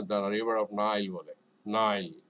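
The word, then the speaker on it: Nile: মিশরের যে নদী আমরা বাঙালিরা আপনার এটাকে মানে বিভিন্নভাবে এটা ভুলভাবে উচ্চারণ শিখছি। হ্যাঁ? যেমন আমরা বলি নীল নদী। না, ওরা কিন্তু এটা দ্যা রিভার অফ নাইল বলে। নাইল, নাইল।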